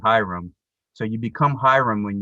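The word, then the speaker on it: ihram: white cloth is called the ichram or phonetically hiram so you become hiram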